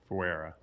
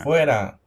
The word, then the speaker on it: fuera: Neville Fuera. There we go. Neville Fuera. Fuera.